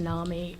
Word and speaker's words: NAMI: pronounced nah me and it stands for